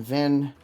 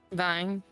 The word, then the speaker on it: Vine: heard the name um Augustine Vin or Augustine Vin sorry Vine Vine thank you I know I said it wrong at first um who